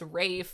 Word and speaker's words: Ralph: It looks like Ralph, but it's Rafe.